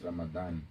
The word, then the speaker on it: Ramadan: Okay, so it's pronounced as Ramadan.